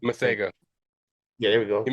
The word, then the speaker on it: Masego: Masiago, I might be saying his name wrong. Masego.